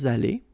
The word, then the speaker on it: allés: put the plural form, then you will have to add this s mark of the plural at the end of your participe passé form here. Okay. Nous sommes allés. You don't pronounce it.